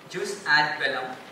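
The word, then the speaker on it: jus ad bellum: a space v e l l u m juice ad Bellum means there should be permissible reasons for going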